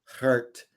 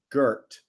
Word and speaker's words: Gert: If we ever had a chance to spend time with Gert, as I always thought it was Gert. Yeah. But the correct Dutch pronunciation is Gert.